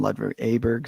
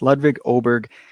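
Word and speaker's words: Ludvig Åberg: I always mispronounce his name in my past podcasts. I call him Ludwig Aberg. So it's Ludwig Oberg.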